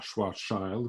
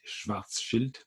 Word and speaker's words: Schwarzschild: la géométrie de schwarzschild alors attention comment ça se prononce c'est l'allemand on ne dit pas on ne prononce pas choir charles comme on entend souvent anglais mais schwarzschild j'insiste donc il s'agit d'étudier